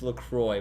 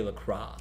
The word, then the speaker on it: LaCroix: or is it looks if you look it up on the website they have a pronunciation and it's lacroix but some people say lacrosse i never said look